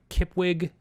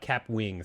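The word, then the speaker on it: Kapwing: wrong it's actually k-a-p-w-i cap wing sorry i said kip wig and it's cap wing okay so do you know have you heard about cap wing no oh well let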